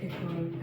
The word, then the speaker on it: equal: It's about creating equal access for all. Equal. Equal. Okay, so here's another example of when students pronounce both the syllables equally. Okay, and it's with the word equal.